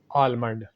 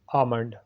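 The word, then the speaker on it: almond: अगला हमारा वर्ड है आलमंड, जो कि गलत है। सही है आमंड। Repeat after me, आमंड।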